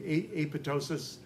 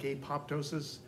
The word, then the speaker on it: apoptosis: word and how that, like in pneumonia, the P is silent.